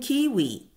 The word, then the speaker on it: kiwi: Take the New Zealand kiwi, whose name rhymes with peewee.